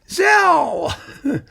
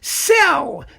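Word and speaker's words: Szell: will and it won't zell zell in cleveland i really love zelda cleveland it's fantastic one some pedantic commentators said no his name isn't zealous cell you should pronounce it cell well let me just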